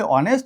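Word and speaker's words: honest: তাহলে এটার উচ্চারণ হবে অনেস্ট, এটার উচ্চারণ হবে আওয়ার। একই রকমভাবে অনারেবল। আশা করি বুঝতে পেরেছো। অর্থাৎ যদি ফার্স্ট লেটার সাইলেন্ট থাকে, উচ্চারণ যদি উচ্চারণ না হয়, এবং উচ্চারণ যদি ভাওয়েল দিয়ে শুরু হয়, যেমন উটা হচ্ছে কি?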